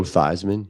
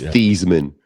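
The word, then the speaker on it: Theismann: Your boy Joe Thyman. Remember he changed the pronunciation of his name so it could rhyme with Heisman? Yeah, that's pretty cool. It was. It's Theman.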